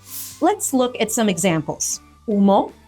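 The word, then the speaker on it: humo: look at some examples UMO smoke Ando iron are examples of the silent h at the beginning words like a now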